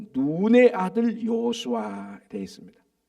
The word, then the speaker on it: 눈: 여호와의 종 모세가 죽은 후에 여호와께서 모세의 수종자 눈의 아들, 그러니까 요수아의 육신의 아버지는 눈이라는 사람입니다. 그 발음을 이거 눈 이렇게 발음한 게 좀 길게 해야 돼.